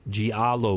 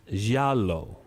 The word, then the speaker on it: giallo: And so people identify them in the United States, and they call them giallo movies. But the word they're using means yellow, so it's pronounced giallo.